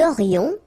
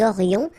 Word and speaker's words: aurions: Nous aurions, liaison here, this little link. Nous aurions, final S not pronounced.